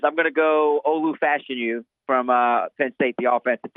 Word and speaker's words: Fashanu: I mean, I've been saying it wrong and finally figured out how to say it. So I'm going Olu Fashanu because. Where did you get Fashanu? Because I'm just going off Moscona saying Fashanu. It's Fashanu. It's Olu Fashanu.